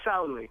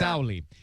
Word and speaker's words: Sauli: Sauli? Yeah, Sauli. Yeah. Sauli.